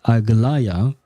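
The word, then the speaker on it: Aglaea: but no I believe her name is actually pronounced agaya I think that's how um Fon pronounced it so I am mistaken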